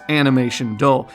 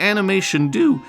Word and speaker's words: Animation Do: point out that no, this company's name is not Animation Do. It's actually Animation Do, just as I've been pronouncing it up until now. Look at the way they spell it in katakana for proof of that before you decide to embarrass